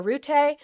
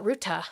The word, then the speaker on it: Rutte: with uh Secretary General Rutte uh Ruta, excuse me, Ruta. It's spelled like it would be Rutte or Root.